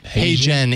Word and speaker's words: HeyGen: yeah it really is how yeah can you spell that that service you said hey Jen h-e-y-g-e-n I think it might be hey Jen